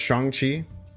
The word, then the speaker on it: Shang-Chi: Shang-Chi is pronounced Shang-Chi.